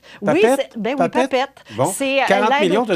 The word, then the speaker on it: PAPET: Est-ce que je le prononce Papette. Bien? Oui, oui, Papette.